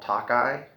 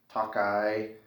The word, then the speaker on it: Tokai: pronounce the name um i've heard it called takai so uh t-o-k-a-i um it's this one